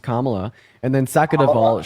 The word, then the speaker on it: Kamala: mean what what has Calo really done first of all her name is pronounced Kamala and then second of